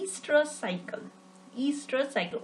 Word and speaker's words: estrous: Estrous cycle. O is silent here, so we will call it as estrous cycle, right?